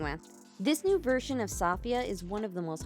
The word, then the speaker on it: Safiyyah: version of sfia or Sophia whichever you prefer I see sopia because that's the pronunciation used in the preview videos for the global version so that's what I'm